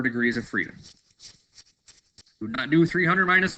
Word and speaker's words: nu: freedom new revenue side ID but it's actually pronounced new so I can use my keyboard here so